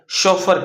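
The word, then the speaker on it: chauffeur: ये आपका स्पेलिंग थोड़ा सा प्रोनाउंसिएशन देखिएगा। शोफर कहते हैं उसको।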